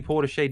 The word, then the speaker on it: Portishead: The way Luke pronounces Portishead, it's definitely Portishead, not It's Portishead.